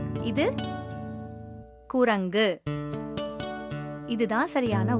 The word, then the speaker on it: குரங்கு: ஆனா பொட்டி அப்படின்னு சொல்றது தவறான உச்சரிப்பு. இது குரங்கு.